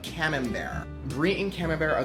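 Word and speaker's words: Camembert: But I recommend for your third get either brie or cam bear. It's spelled cambert. But cam bear.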